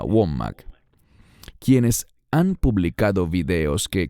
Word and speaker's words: Wommack: Hay tantos de esos falsos maestros, llámese Kenneth Copeland o Andrew Wommack, creo que se pronuncia Wommack, quienes han publicado videos